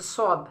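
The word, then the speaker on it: ص: এখন হচ্ছে সদ, হ্যাঁ, সদের উচ্চারণটা কেমন হবে, সদ জব স, হ্যাঁ, স সি সি সো সো সো, স সি সো, একটু মোটা হবে, হ্যাঁ, সদ জব স।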